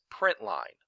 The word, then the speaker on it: println: screen in java is system dot out dot print ln which we usually pronounce as print line after the print line